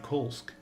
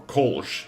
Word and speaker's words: Kolsc: Said they had it on good authority someone in town was working with Kolsk. Or Kolsch, if you prefer. I've heard both pronunciation for this name.